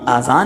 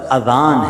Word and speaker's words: اذان: تلفظ سے بچ لیں۔ آذان اذن کی جمع ہے، اذن کہتے کان کو، یہ آزان نہیں ہے، یہ لفظ اذان ہے، ٹھیک ہے؟